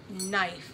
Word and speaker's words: knife: you're writing the word knife it actually starts with a K but the K is silent so we only hear the end knife that's so silly that